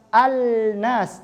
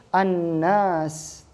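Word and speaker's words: النَّاس: Nah, maka bacanya bukan al-nas tetapi an-nas.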